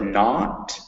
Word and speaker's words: not: So when you say words like not and all, make sure it's that ah vowel that's way back in your throat. Ah. It's spelled with an O, which makes you think it's note, but it's not.